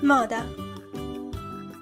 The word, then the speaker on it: moda: It's sometimes pronounced O, like the O in the English word pot. O. Moda, moda.